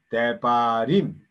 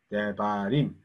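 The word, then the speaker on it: דברים: 자, 그래서 여기가 때가 한 음절 1번 그 다음에 D 2음절 그 다음에 임 3음절 그래서 맨 뒤에 있는 것을 톤이라 하죠. 왜냐면 여기 악센트가 가니까요.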